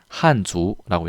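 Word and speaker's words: 汉族: 한족이라고 합니다. 한주라고 얘기하고요.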